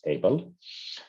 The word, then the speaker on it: Hevel: that Cain and Hevel, and I'm calling you Hevel because this is the Hebrew name of pronunciation. The English one is Abel.